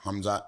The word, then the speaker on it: Hamzat: following and he's really good sorry sorry guys pronounce his name for me again hmat chamay hamz Chay hamzat yeah ham hamz hamz Chay hamz chamay yeah